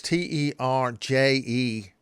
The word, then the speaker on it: Terje: That's Terje. The J is said like a Y.